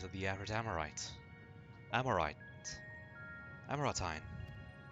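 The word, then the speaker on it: Amaurotine: the average amorite amorite amoratine that's how you pronounce it apologies for the wait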